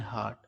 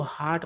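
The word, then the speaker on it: heart: king had a kind हार्ट और उन्हें गर्व था कि उनके राजा का दिल कैसा है तो दयालु है मतलब कि नरम दिल के राजा है दोस्तों इसको हार्ट पढ़ना है हर्ट नहीं पढ़ना है हर्ट का स्पेलिंग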